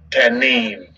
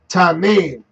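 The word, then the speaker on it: תנין: Tanim. Strong's H, 8577. Tanim. Tanim. All right, so you just heard it. Tanim.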